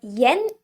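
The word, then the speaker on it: 円: currency is called as yen in english it's pronounced more like n in japanese but it's okay to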